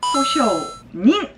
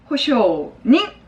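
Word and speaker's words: 保証人: 보증인은 그러면 징으로 읽을까요? 닝으로 읽을까요? 띵. 뭐야 우리? 호쇼스루라는 수루 동사가 자연스럽잖아요. 그쵸? 그래서 어떻게? 호쇼닝 이라고 읽는다. 다시 한번 호쇼닝 이라고 읽습니다.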